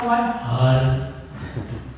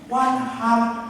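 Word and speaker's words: وانحر: Hak kecil hak besar hari. Kecil. Maka bacanya harus lembut, harus tarkib. Washolli li rabbika wanhar. Kalau Bapak Ibu baca wanhar, artinya beda Pak.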